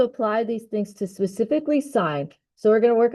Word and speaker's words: sine: Did you guys know that sign is actually a four-letter word that is pronounced with a long i sound?